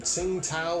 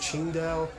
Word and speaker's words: Tsingtao: And I even had some Tsingtao, or I think it's actually pronounced Qingdao. Both the beer, which is